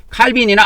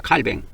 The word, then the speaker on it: 칼뱅: 이게 프랑스로 보면은이 사람이 프랑스 사람이기 때문에 프랑스에서 말을 할 때는 칼뱅이라고 합니다. 칼뱅.